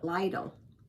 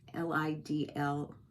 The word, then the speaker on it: Lidl: And it's funny because there's a store in New Jersey called, I used to call it Lidl, L-I-D-L.